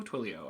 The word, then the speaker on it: Twilio: into another service called Twilio twily o Twilio i think it's how it's pronounced and i'm gonna take